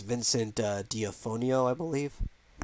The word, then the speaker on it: D'Onofrio: It's Vincent D'Onofrio, I believe. D'Onofrio.